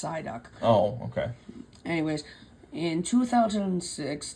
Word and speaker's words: Psyduck: of Pokemon, and my personal favorite Pokemon is Psychoduck. Ha ha ha ha. It's pronounced Psyduck.